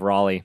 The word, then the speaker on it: Raleigh: What is the proper pronunciation of it? It's not Raleigh. It's Raleigh. My job is technically based out of Raleigh, North Carolina.